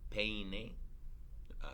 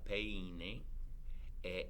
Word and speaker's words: peine: You have to be very careful in the pronunciation of that word because penne, without the e, means penis. And you probably don't want to mix those two words up.